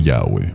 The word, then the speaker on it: Yahweh: Ni siquiera los manuscritos más antiguos ayudan a saber exactamente cómo se debía pronunciar el nombre, aunque posiblemente la mejor pronunciación es de Yahweh.